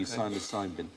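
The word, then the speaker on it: psilocybin: but the magic mushroom silos cybin silent P syosin interesting experiments been done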